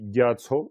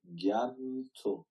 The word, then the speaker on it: Gyatso: Donc, quand on dit Gyatso, c'est un vaste lac. Donc, l'océan est un vaste lac. Oui, Stéphane? Et il me semblait que quand il y avait un ma sur la deuxième syllabe, ça devait Gyamto. Absolument. Et j'allais y arriver. C'était d'abord Gya et Tso, mais effectivement, quand vous avez un ma, vous pouvez faire la liaison.